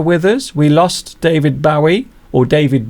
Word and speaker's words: Bowie: We lost David Bowie, or David Bowie, last year. Some people say David Bowie, some people say David Bowie. There are many different ways to pronounce words, and a little